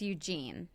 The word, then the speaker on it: Eugene: And by the way, how am I doing at pronouncing – am I pronouncing Eugene right, or is it Eugene? It's Eugene.